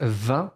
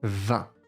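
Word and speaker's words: vingt: Comenzamos con el número 20, diríamos en francés 20, se escribe V-I-N-G-T. Lo vas a pronunciar la V con una E nasal, 20.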